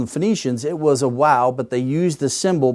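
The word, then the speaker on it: waw: But actually, originally, it was wow. It was pronounced like a W.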